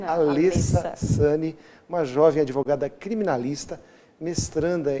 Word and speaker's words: Alessa Sanny: Ela me recomendou que eu caprichasse na pronúncia do seu nome, não é Alessa, é Alessa Sani, uma jovem advogada criminalista,